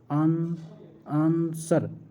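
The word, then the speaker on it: answer: आंसर में कौन सा अक्षर साइलेंट है? आंसर। आंसर के अंदर कौन सा शब्द है? डब्ल्यू जो है वो हमें साइलेंट लग रखा है इसका।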